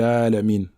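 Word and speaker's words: العالمين: Donc on ne va pas dire Alhamdulillahi Rabbil Alamina, mais Alhamdulillahi Rabbil Alamin. Donc lorsqu'on s'arrête sur le sukun, ici il faut bien prononcer la lettre Nun, sans exagérer, comme nous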